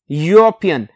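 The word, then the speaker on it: European: लिखा है ई से लेकिन उसका साउंड जब प्रोनाउंस करते हैं तो यू साउंड यू साउंड य य यूरोपियन तो दैट्ची कंट्री सो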